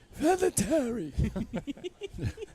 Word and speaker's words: Vinatieri: Vinatieri.